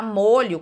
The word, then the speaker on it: molho: uma ação então o a palavra molho quando ela fazendo usada como um substantivo né substantivo é o que dá nome a tudo que existe eu eu pronuncia essa palavra com som fechado mas quando eu uso um sentido de ação eu pronuncio com som aberto então é esse é